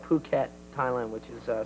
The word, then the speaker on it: Phuket: spell Phu ket hmm it's spelled Phuket yeah yeah they say Phuket but by the end of the thing we were like getting at the phonetic pronunciation of ahu ket that was about it